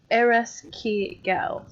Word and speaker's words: Ereshkigal: I did write some of the pronunciations out, but I don't think I wrote. Oh no, Ereshkigal.